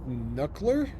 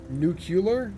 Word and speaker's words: nuclear: fogor sound uh pronounced knuckler I don't think it's pronounced knuckler I think that's how that works maybe you're pronounced knuckler Nu nuclear nuclear whatever words hard